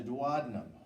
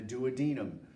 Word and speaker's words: duodenum: intestine is called the duodenum or the duodenum either one of those both of those is acceptable as far as the pronunciation of the first portion of the small intestine but in order to